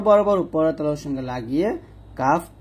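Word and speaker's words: كاف: 5 নং মাখরাজ জিহ্বার গোড়া হতে বা জিহ্বার গোড়া থেকে একটু আগে বাড়িয়ে তালু বরাবর উপরে তালুর সঙ্গে লাগিয়ে কাফ পাতলা করে উচ্চারণ করতে হবে, কাফ।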